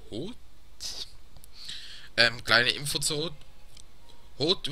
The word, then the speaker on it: Hoth: Hoth wird gesprochen, wie es geschrieben wird. Weil es andere wie Hoth, Hoff oder...